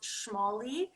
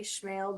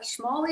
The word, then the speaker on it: Schmale: And last name is pronounced Schmale. A lot of people say Schmale, but Schmale is how you pronounce that.